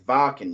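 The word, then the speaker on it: Wacken: I would love to go to walk-in or Vakken, whatever you want to pronounce it, open air. It's in Germany. It's Vakken. You gotta, I vamped.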